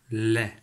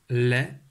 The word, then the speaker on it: lait: de suite comment s'écrit le mot l'est laisse écrit avec quatre lettres elle a é té le thé à la fin et muet c'est à dire que